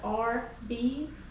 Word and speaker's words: Arby's: I was today years old when I realized Arby's is just pronounced as RB's, which is short for roast beef.